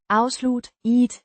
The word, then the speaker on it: afsluttede: Pronounced. Afslutte-ede. The T. sounds softer than in English.